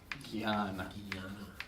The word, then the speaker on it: jnana: This is how it's written in in most Sanskrit books now, but it's kind of pronounced more like jnana. See that? Not the country, Ghana.